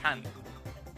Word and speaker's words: pain: Pain pronounced pan. It's bread in French.